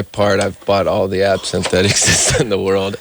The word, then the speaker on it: absinthe: How do you say that? Absinthe? Yeah, it's Absinthe.